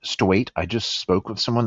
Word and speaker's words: Stuyt: Yes, that's how you pronounce it, like state, Stuyt.